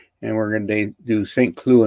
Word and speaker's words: Saint-Cloud: we're going to do st clue in france it's not saying cloud well yes you can